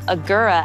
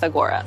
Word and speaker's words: Agoura: Agoura, or Agoura as some people pronounce it, I've never totally understood, but I'm going with Agoura.